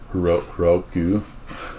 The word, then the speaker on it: Heroku: Heroku is the right way to say it.